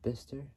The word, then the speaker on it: Bicester: It's how to even in Bister, which is spelled Bicester, and laterally at Reynard Park in Brackley, England.